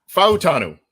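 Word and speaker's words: Fautanu: but let's uh let's do this okay uh fanu right that's what that's Y what you said um is how to properly pronounce it Troy fanu had a recent visit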